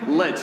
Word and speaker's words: lich: Let's actually, there's a couple, I think, acceptable pronunciations, but let's all choose the same one, okay? Lich. Let's go with Lich.